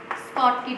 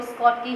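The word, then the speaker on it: Schottky: First आएगा इसमें स्कॉटकी defect, इसकी प्रोनाउंसिएशन देख लेंगे आप, इसको स्कॉटी भी बोल देते हैं कई, मैं इसको स्कॉटकी ही बोलती हूँ, ठीक है।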